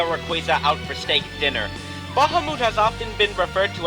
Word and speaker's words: Bahamut: I like to be honest with you, I have never even played Final Fantasy, but seriously, Bahamut, more properly pronounced as Bahamut, is one of the most badass dragons I have ever seen.